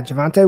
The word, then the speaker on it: Javonte: is that correct yeah javonte williams okay it looked like devante but with a j so javon traditional you